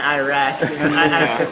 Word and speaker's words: Iraq: If you want to say it properly, it's Iraq. But that's Iraq. It's in Arabic.